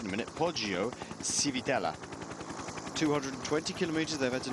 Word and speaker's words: Poggio Civitella: Poggio Civitella.